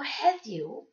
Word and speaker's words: heddiw: Two D's are always pronounced ev, like in the word breathe, or this and that. So heddiw, or heddi, colloquially, means today.